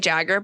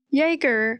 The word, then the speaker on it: Jaeger: Okay, I was saying Jagger, but it's spelled like the word Jaeger, right? Jaeger. Oh. I think it's Jaeger. Like a Jaeger bomb?